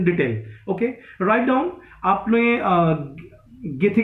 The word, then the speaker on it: Goethe: आपने गेथे का नाम सुना होगा, जर्मन राइटर है. Write down गेथे. पूरा नाम तो है जोहान वॉल्फगैंग वॉन गेथे. Okay, GOETHE, गेथे.